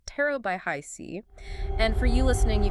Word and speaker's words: HiC: That's pronounced Tarot by Hi C.